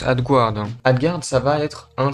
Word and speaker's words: AdGuard: Ça se prononce AdGuard.